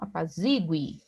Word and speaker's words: apazigue: Aqui nós temos um U tônico, apazigue, gui, né?